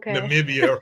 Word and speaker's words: Namibia: right though I I am sure I'm saying Namibia right yes oh they have the right to